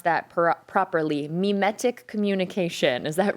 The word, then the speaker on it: mimetic: And my first question for you is, did I pronounce that properly? Mimetic communication.